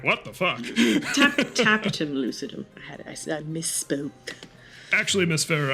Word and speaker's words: tapetum lucidum: It's the Trapidum lucidum.